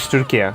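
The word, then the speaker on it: Türkiye: The correct way to say our country's name now is Turkey. Turkey is the animal, Turkey is the country.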